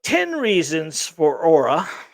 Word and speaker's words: Aura: right 10 reasons for Aura I know it's a UR a but that's how they want me to pronounce it Aura uh the online for